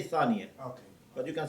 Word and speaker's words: ثانية: Because in Arabic usually you say ثانوي. You can say Thanawi, but in Farsi we say Thaniya.